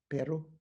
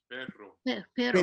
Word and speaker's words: perro: Perro. You guys must know in New Mexico. Pero. Perro. Okay, I get the right pronunciation.